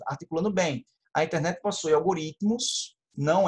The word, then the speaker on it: algoritmos: Mas o T é mudo, então não é uma sílaba. Então, fica algoritmos. Tá? Porque aqui, ó, paroxítona, vira uma paroxítona, algoritmos.